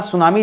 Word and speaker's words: tsunami: जब लिखता है तो टी दोस्तों यहां पर क्या हो जाता है हमेशा साइलेंट होता है पढ़ा सुनामी जाता है लेकिन लिखते समय सबसे पहले टी लिखा जाता है ये अलग बात